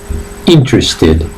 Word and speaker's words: interested: example is interested interested remember the pronunciation goes on the eye and you pronounce interested interested alright so we have